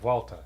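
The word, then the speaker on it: Vuelta: what it is but over here we say welta and there's Brands called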